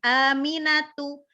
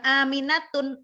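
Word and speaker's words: آمنة: Lihat nih, Aminatu, tunya enggak bertanwin, bukan Aminatun, enggak, tetapi Aminatu, ya, padahal Aminah itu nama Arab, nama perempuan Arab.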